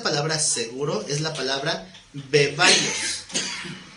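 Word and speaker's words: βέβαιος: seguro es la palabra bebaios. Como bebé, beba y os, bebaios, porque tiene acento en la E, bebaios.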